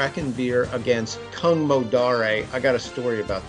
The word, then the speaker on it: Kung Modare: River crew River crude um so story about kungmodare Sven yeah so I noticed last week I was saying Kung modern you were saying Kang modare I went to